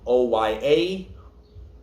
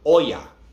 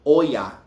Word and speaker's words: Oya: uh so it's not oya it's when you're saying oh yeah you're putting emphasis on the o not on the a so it's correctly um